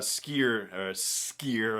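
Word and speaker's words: Sskeer: And he also talked about Skier, I should say, and give it the double S pronunciation it deserves, the Trandoshan Jedi Master,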